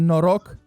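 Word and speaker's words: noroc: you say chairs in romania again we say no rock so here comes the tricky part you grew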